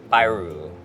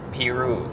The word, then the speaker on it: Piru: Magandang araw araw itong weekend magka-camping kami sa Lake Pyu. Let's go. Actually chineck ko lang online. It's actually pronounced Lake Peru.